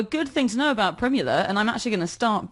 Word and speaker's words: Primula: he was actually really old when he invented prime Nuala which is that the you laughing because I pronounce it old not older inventing prime Nuala